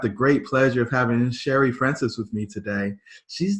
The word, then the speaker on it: Shari: Like, is it Shari? Like, what's the right way to say it? So my name is Shari.